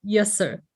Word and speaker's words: Jesse: chat with actually in dutch his name is pronounced as yes sir right indeed yeah so